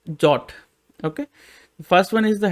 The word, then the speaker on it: JWT: header part okay and this is the jwt json web token or it is pronounced as jot okay first one is